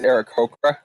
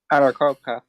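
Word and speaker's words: Aarakocra: It's Eric Hokra. Sorry. Arakoka. Yeah. Oh, it's hard to pronounce because they don't give you like a pronunciation key in the book.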